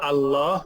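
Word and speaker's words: الله: সেই জন্য যদি আমরা আল্লাহ উচ্চারণ করি অন্য কিছু ছাড়া, শুধু আল্লাহ বলি, তাহলে আলিফের উচ্চারণ। কিন্তু কোনো কিছু যদি আমরা আগে অ্যাড করি তাহলে এই আলিফ আর উচ্চারিত হইবে না। যেমন লিল্লাহ, বিল্লাহ, রাসূলুল্লাহ, ইনশাআল্লাহ, এই আলিফ চলে যায়।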